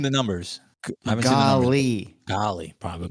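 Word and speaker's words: Goli: numbers I haven't seen goly probably golly yeah how do hold on how do you pronounce it's pronounced goalie goalie it is goalie I think goalie's hot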